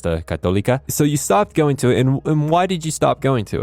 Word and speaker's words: católica: So I grew up with a lot of people who spoke Spanish, and in Spanish it's pronounced católica.